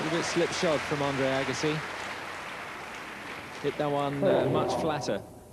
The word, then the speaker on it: Agassi: Andre Agassi, you'll hear the chair umpire saying his name something like Agassi. The normal way that Agassi is pronounced in Korean to a foreign ear anyway is exactly the same word as woman.